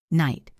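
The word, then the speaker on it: knight: Night. The K is silent. The G-H is silent.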